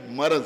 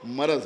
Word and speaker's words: مرض: کچھ الفاظ ایسے ہی ہیں جن کو اکثر لوگ غلط بولتے ہیں، مثلا ورق یا عرق، تو اسی طرح سے یہ صحیح تلفظ جو ہے وہ مرض ہے۔ تو میں عرض یہ